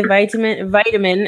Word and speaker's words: vitamin: For example, vitamin. I say vitamin, actually. Let's not use my teacher mode accent today. Vitamin. And in British English, Ken, do you know the pronunciation? Otherwise, I can try. Vitamin. Thank you. It's vitamin. They really raise that second part. Vitamin. So in American English, I'm actually saying the T as a D, and I'm also emphasizing